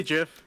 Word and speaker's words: GIF: Do you say GIF? No, because that's stupid. It's a hard G.